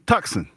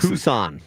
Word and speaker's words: Tucson: No, it I know it's t it's tuxen. No, it's tux. Tucson. Tucson. No, but it looks like it's phonetically. It says tux.